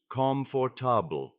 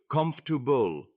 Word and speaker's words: comfortable: Amira once tried to say the word comfortable, but she pronounced every letter slowly as if the word had four clear parts, comfor. Her teacher smiled and said, "In natural English, it sounds more like comubul."